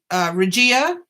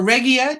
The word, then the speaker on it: Regia: One is Regia or Regia, depending on where you are and how you pronounce that.